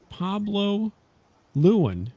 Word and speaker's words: Pablo Lewin: welcome this is today we're talking to Pablo Luan did I say that right Pablo absolutely correct oh wow pronunciation first first try usually I get everybody's